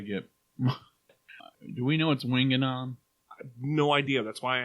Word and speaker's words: Winganon: that right is that how they say it winging on yeah okay um i appreciate it that's all